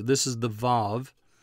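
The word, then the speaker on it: וָו: letter this is the VAV sometimes pronounced W but that's wrong it's V the V sound this little letter has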